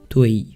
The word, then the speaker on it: Toei: rentrer dans le studio toei toile comme on dit chez pas ça s'écrit comme ça en tirant dans ce